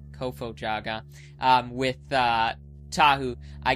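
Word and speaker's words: Kofo-Jaga: I believe it's eight with the uh the Kofu Jaga. I didn't pronounce that right, did I? Kofo Jaga.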